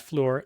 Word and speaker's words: Fluor: The news here was that this company that owns 10% of NewScale, Fluor, I think it's pronounced Fluor, F-L-U-O-R Corp., they sold about $200 million worth of stock recently.